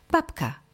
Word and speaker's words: babka: v ale vyslovujeme f babka píšeme B ale vyslovujeme p rozpáliť píšeme z ale